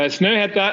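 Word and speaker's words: Snøhetta: with my presentation uh snowhead that's the how you pronounce the name of our company and uh uh sneta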